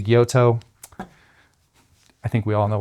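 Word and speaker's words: gyuto: Guuto is how I believe it should be pronounced. I say Guyoto.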